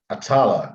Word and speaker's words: Atalla: uh you're lazy am i pronouncing your last name correctly atala atala yes lebanese now it's a